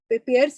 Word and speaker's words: Payr: Okay, Pearce is spelled PAYR.